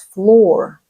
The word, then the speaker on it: floor: It's not a flower, it's floor.